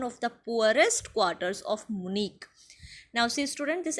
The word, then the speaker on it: Munich: room in one of the poorest quarters of Munich. Now, see, student, this H is silent here.